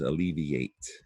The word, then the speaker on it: alleviate: Not only that, but it sounds like EA, right? It's spelled IA.